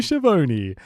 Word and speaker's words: Schiavone: Because that's how he says it. He knows how to say his name. He's got confidence in that content. I'm Tony Schiavone, along with the living legend Larry Zbyszko's here, boys.